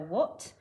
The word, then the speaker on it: what: what did you see now we know how to spell what we mustn't forget that silent h what did you see